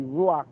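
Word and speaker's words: רוח: me that she said he pronouncing it wrong it need to be ruach and she said no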